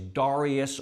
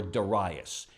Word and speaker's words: Darius: Okay, the king at the time is an individual named, well, and I've heard his name pronounced 2 different ways, Darius or Darius.